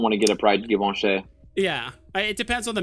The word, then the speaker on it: Givenchy: What Givenchy, that's how you pronounce it. It's not Givenchy or whatever. Givenchy.